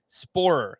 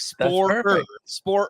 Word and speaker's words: Sporer: over on twitter at sporer that's you know whenever i say your name i feel like i'm not like pronouncing the last part of it it's like spoiler spoiler yeah you follow him